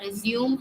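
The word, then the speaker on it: résumé: meant there is resume sometimes um an accent is put over it to show that it's resume yeah it's a res here so resume is a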